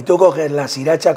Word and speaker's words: Sriracha: Y es simplemente, cuando vais al supermercado, compráis sriracha. ¿La conocéis? No. Y tú coges la sriracha, como suena, se escribe, sí.